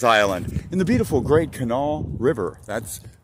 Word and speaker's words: Kanawha: Island AKA Blaine's island in the beautiful great Canal River that's Canal not Kanawha or however else you were mispronouncing it it's canal okay all right that's